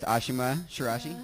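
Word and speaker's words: Ashima Shiraishi: at the Portland Boulder rally uh 2014 with Ashima shirashi did I pronounce that correctly yeah you did okay excellent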